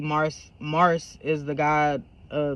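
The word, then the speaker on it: Marc'e: yeah that's why his name is uh Mar it's spelled m a r c e apostrophe e Mars Mars is the god uh the Roman God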